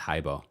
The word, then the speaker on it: Hibo: Hibo. Oh, thank you so much. Thank you. Cindy says it's pronounced Hibbo.